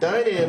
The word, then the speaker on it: Dynam: dynam dynam dynamite yeah i think it is pronounce that dynam is how the people that work for the company pronounce it that's probably correct okay i got the